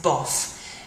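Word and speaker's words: bof: that goes with this buff it's pronounced like this like it says buff bu buff it's very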